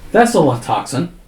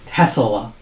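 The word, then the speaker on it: Thessaltoxin: I have to say I have to spell it. T H E T H E double S A L then toxin and then antidote.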